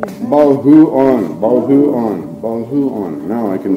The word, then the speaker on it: Boljoon: Boljoon, right? Boljoon? Boljoon. Boljoon. I always say it wrong. Boljoon.